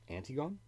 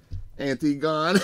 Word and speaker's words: Antigone: person's name below hannibal antigone antigone what the ever dude anti-gone it's antigone the player who held